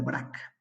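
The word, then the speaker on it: Braque: es un francés que se apellida barack se escribe el vrac vale ellos ya son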